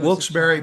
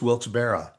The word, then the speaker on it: Wilkes-Barre: Wilkes-Barre, Pennsylvania. And and that that Yeah. But some say it's Wilkes-Barre.